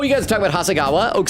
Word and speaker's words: Hasegawa: It's Hasegawa.